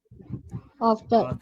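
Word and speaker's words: after: बोलना आफ्टर आफ्टर work आफ्टर आफ्टर हां वैसे टी ये जो भी है ये भी साउंड डी का है आफ्टर नहीं टी है टी इसको डी नहीं पढ़ना ठीक है आफ्टर आफ्टर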